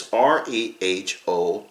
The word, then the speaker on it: Rehoboam: King Rehoboam, I don't even know how to pronounce that. It is Rehoboam, was the son of King Solomon and the grandson of King David.